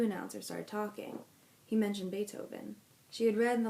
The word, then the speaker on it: Beethoven: started talking he mentioned Beethoven she had read in the library about that musician his name was pronounced with an A and spelled with a double e he was a German